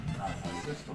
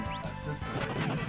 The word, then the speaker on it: asystole: A systole, I think it's called. Am I pronouncing that right, by the way?